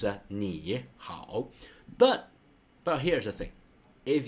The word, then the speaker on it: 你好: If two combine them together, it becomes pretty hard for human, not just the Chinese, but everyone to pronounce. So they change it to 你好. So ni, so become the second one. So here's a rule: if two third tone combine them together, the first will go to the second tone.